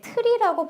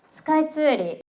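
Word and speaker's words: スカイツリー: 근데 트리라고 발음을 안 하고 쓰리라고서 t 발음을 좀 잘 안 하거든요. 같이 한번 발음해 볼게요. 스카이츠리 한번 해게요.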